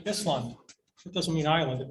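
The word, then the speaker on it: Ísland: okay so this is iceland and they pronounce it islam it doesn't mean ireland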